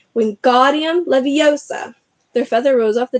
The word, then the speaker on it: Wingardium Leviosa: much more luck when guardian Leviosa he shouted waving his long arms like a windmill you're saying it wrong Harry Hermione snapped its Wingardium Leviosa make the guard nice and long you do it then